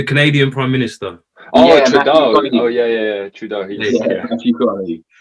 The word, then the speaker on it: Trudeau: It's Trudeau. It's Trudeau. That's how you pronounce it.